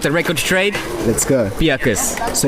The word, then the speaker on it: Beukes: it's spelled b-e-u-k-e-s but the most common uh mispronunciation is bukes because i actually thought it was beauty yeah all right okay but just to get the story straight get the record straight let's go piacos so it's piakas okay not not